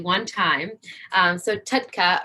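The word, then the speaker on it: TUDCA: correctly one time so tutka or t-u-d-c-a stands for toro sodium oxycolic acid that's a mouthful i'll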